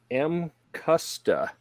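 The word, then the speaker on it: Mcusta: But this company, how do they pronounce it? M Custa is how they say it, from Japan.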